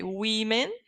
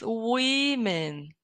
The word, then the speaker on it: women: So we're going to say women. And pay attention to the pronunciation, okay? Women. Woman is the singular. Woman, singular. The plural is women.